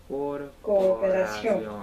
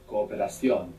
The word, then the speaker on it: cooperación: Cooperación. Good. Cooperación. Good. You pronounced both O's. That was correct. Cooperación. Cooperación. Just sounds a tiny bit longer, no?